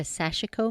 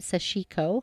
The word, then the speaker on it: Sashiko: acquired a Sashiko machine, or some say it Sashiko. How do you say it? Sashiko. There you go. Of course, that may be Southern because, I'm Southern, but Sashiko is, I think, how it's pronounced, but we all know,